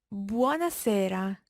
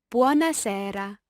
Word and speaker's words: buona sera: me or gourmet sty you can see buona sera or buona sera where there's a slightly different sound in the e Francesca how would you